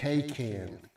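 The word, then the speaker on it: Kaycan: I used uh a a company called Ken spelled with a k a y k a n um they have a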